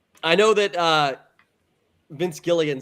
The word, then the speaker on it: Gilligan: I always heard people say Vince Gilgun about this guy. It's Gilligan. Maybe it's just the way they pronounce it.